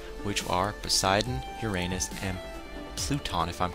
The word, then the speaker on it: Pluton: named after Gods which are Poseidon Uranus and pluton if I'm correct I wanted to say Pluto but it's in the subs it's pronounced pluton and it's even spelled p l u t o n pluton I was hoping it was going to